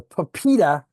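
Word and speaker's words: PIPEDA: And um the papida legislation um how it's pronounced stands for personal information protection and electronics documents act. Now, papito legislation is one of these interesting and unique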